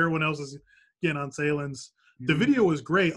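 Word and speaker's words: Sahlen's: You know, with the Nathan's versus, is it pronounced Sahlens or Sahlens? I know it's a regional brand there. Sahlens, man.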